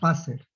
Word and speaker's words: Wasser: Por ejemplo, el agua es Wasser. Se escribe con W, pero se pronuncia como una B chiquita, Wasser. Entonces, el Wasser, la W tiene que estar con mayúscula, porque si no es una falta de ortografía.